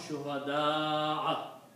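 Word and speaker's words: شهداء: So the word in the Quran is shuhada'a. Okay? And also because this is Hamza, the alif before that should be read with the long stretching, mad. Okay? So you should pronounce shuhada'a.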